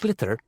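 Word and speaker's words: sliotar: this ball called a glitter that's s l i o t a r so it's not spelled the way it's pronounced you hit it into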